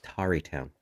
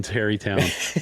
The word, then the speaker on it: Tarrytown: And it's actually pronounced Tarrytown. Tari. No, I worked in Terrytown a long time.